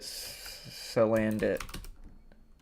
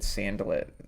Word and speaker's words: Salandit: Salandit. I said Sandalit. I guess it's Salandit.